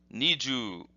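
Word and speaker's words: 二十: But in this particular case, this word has an elongated U sound, and this is the hiragana for U. So this becomes ju, ju. So this is pronounced niju, and the kanji for this looks like this.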